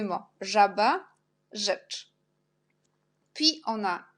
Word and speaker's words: żaba: Et quand j'ai déjà marqué Z avec petit point, jet, on prononce J, et RZ, on prononce aussi J. Par exemple, żaba, rzeka. Żaba, rzecz. On a 2 mots, żaba, rzecz.